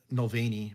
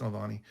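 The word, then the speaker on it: Navalny: again naani aani yeah Nani I said it wrong last week I said noani but it's Nani um yeah it's it's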